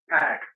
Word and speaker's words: PAC: Pack. Pac, like a 6-pack.